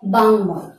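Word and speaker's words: বাঙ্ময়: উচ্চারণটি হবে বাংময়। উচ্চারণটি হবে বাংময়।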